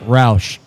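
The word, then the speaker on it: Rauch: But it's spelled like Roush. Yeah. R-A-U-C-H.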